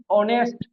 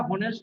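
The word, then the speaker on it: honest: যেমন অনেস্ট, অনেস্ট কে কখনোই আমরা হনেস্ট বলতে পারি না।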